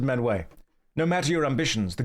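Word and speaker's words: Miounne: You pronounce it menway. No matter your ambitions, the guild is here to help you attain them. Thank you, Mother Minwi.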